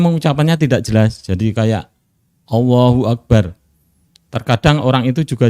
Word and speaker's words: Allah: Allahu Akbar memang bacaan atau huruf lam dalam kalimat Allah dalam kata Allah itu dibaca tafkhim tebal nah kadang sebagian orang di masyarakat kita kan ada beberapa kesalahannya ada yang baca Allah Allah dan itu berarti masih tarqiq masih tipis harusnya agak tebal Allah nah sebagian orang terus